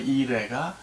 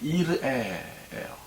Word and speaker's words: 이르에: 그래서 저는 아도나이라고 이제 습관적으로 그렇게 부르는데 아도나이 이레가 창세기 22장 14절을 보면 나와요. 이런 과정 끝에 이제 탄생을 한 거죠. 아도나이 이레는 정확하게 발음하면 아도나이 이르에예요. 하나님이 보신다는 의미를 가지고 있어요.